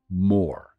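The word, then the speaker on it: מור: So myrrh is Strong's Hebrew Concordance or Old Testament 4753 more. It's spelled Mem Resh or Mem Vav Resh, depending upon how you vowel point it.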